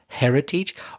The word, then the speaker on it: heritage: The word heritage, the H is pronounced heritage.